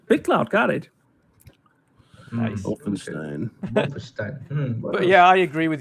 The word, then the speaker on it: Wolfenstein: It's a wolf. It's not wolf. It's Wolf. Wolf. Wolf. And more of a V than a W.